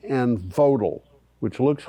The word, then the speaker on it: Vogtle: Olkiluoto, Flamanville, Hinkley Point C, and Vodal, which looks like it should be pronounced Vogtle.